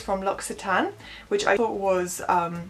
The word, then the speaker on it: L'Occitane: It's from L'Occitane, which I thought was L'Occitane. I don't know, is that a normal thing to assume? But yeah, apparently it's pronounced L'Occitane.